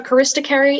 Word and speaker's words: charisticary: the information uh sure so charista carey is the only pronunciation it's a noun it's